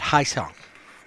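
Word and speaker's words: Ha-seong: He said, Haesong.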